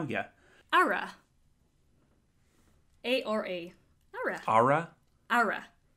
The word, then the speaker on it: ara: Ara. A-R-A. Ara. Ara? Ara. Flatten your A. Ara. Not aura.